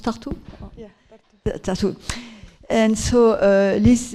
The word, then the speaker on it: Tartu: Hein, on prononce Tartu?